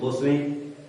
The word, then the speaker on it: boatswain: So here we have seen that captain, that is master, is ordering officers, boatswain, it is pronounced boatswain, to order, you can say, mariners, sailors to control the ship because the storm is created.